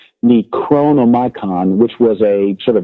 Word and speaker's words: Necronomicon: The Necronomicon, I have to pronounce it correctly, Necronomicon, which was a sort of grimoire, a magical cookbook, if you will, their religious ideas.